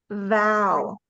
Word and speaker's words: vow: it'll become easy but you're going to take your teeth put it over your bottom lip and say kind of like the word cow with a V sound in front of it vow good here's someone's